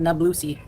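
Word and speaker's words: Nabulsi: However, it's pronounced Nablooi.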